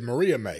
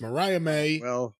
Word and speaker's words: Mariah May: May wrestled Diana perzo Mariah she she did Mariah May well she may what no Mariah May is her name it's not Maria May it's Mariah may you said Maria May it's Mariah May and she was against di danana danas she